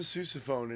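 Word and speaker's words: sousaphone: Is it susophone? It is a susophone.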